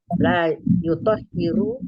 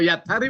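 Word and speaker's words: يطهر: Ai la yutahhiru. Itu. Kalau yathari Bu baca tadi salah sekali.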